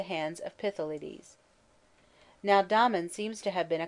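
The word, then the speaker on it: Damon: most writers state was Domon whose name they say should be pronounced with the first syllable short but Aristotle says he had a thorough musical training at the hands of pithy ladies now Domon seems to have been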